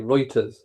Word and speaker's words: Reuters: Oh, it's pronounced Reuters. Okay, Reuters.